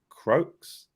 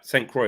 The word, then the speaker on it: Saint Croix: says at 4am incent can't pronounce that croaks is I would assume it's a silent X yeah Saint Croix I wonder where that